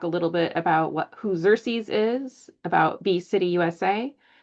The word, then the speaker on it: Xerces: It's pronounced Xerces.